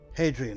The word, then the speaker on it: Hadrian: Hadrian, that's how you pronounce her name.